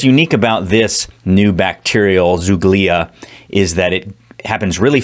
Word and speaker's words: zoogloea: I think that's how you say it, zoogloea.